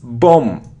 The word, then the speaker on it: bomb: It isn't bomb, not bomb, not bomb. It's bomb. Bomb. It's a short sound O. Boom. So without it. Without it. We don't pronounce B.